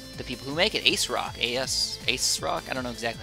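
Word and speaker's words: ASRock: Ace Rock. I don't know exactly how to say it. I want to say Asus Rock, because Asus is the other one, or Asus, rather. But it's Ace Rock.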